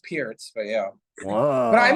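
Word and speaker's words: Pirc: Philindor defense or the Perk defense. Is that a thing? Yeah. Well, it's pronounced Pierce, but yeah.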